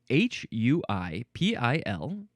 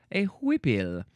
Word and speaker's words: huipil: Next, we have, do we pronounce this huipil? Huipil.